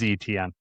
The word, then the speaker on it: Etienne: I have to look that up, but I did look up how Caleb wants his name pronounced, or how they have it on at least how Google search has it. It is ETN.